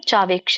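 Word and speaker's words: ಚಾವೇಕ್ಷ್ಯ: ಚಾವೇಕ್ಷ ಚ ಅಂತಂದ್ರೆ ಕೂಡ ನಿಜವಾಗಿಯೂ ಚ ಆವೇಕ್ಷ ಅಂತ ಕರೀತಾರೆ ಯಾಕಂದ್ರೆ ಚಕ್ಕೆ ಆ ಸ್ವರ ಇದೆ ಹಾಗಾಗಿ ಚಾವೇಕ್ಷ ಅಂದ್ರೆ ಚ ಆವೇಕ್ಷ ಅಂತ ಆಗುತ್ತೆ ನಾವು ಚಾವೇಕ್ಷ ಅಂತ ಹೇಳಬಹುದು ನ ವಿಕಂಪಿತುಂ ಅರ್ಹಸಿ ನ ಅಂದ್ರೆ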